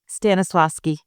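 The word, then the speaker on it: Stanislavski: How do I pronounce that? Stannisloski.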